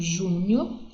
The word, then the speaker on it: júnior: Eu tenho júnior. A minha sílaba tônica é no Ju, que é a minha sílaba mais forte, isso que é uma sílaba tônica, ok?